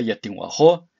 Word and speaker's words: Yatinwajo': final de la palabra ya tengo ajo se pronuncia como si estuvieras repugnando algo en vez de como